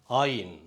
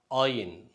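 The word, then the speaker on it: עין: இந்த எழுத்து ஏற்கனவே ஆலேஃப் என்ற எழுத்தை பார்த்துருப்போம். அதே போல் இது சைலண்ட், இது சைலண்ட் லெட்டர், அது உச்சரிக்கப்படாது. ஆனால் சில நேரங்களில் மட்டும் உச்சரிக்கும், ஆனால் பொதுவாக அது உச்சரிக்கப்படாது என்று சொல்வார்கள்.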